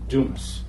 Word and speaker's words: Dumas: And the other thing, I don't know if you've noticed it yet, my name is Dumas. That's French. It's phonetically D-O-O-M-I-S. The proper pronunciation is Dumas, but I only admit to being Italian.